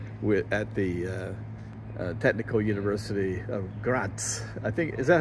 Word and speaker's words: Graz: So I'm here again on a very hot summer day at the Technical University of Graz. I think, is that how you pronounce it?